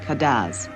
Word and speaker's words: cadence: the islands French patois the music is spelled cadence and called Cadiz Dominica lies between the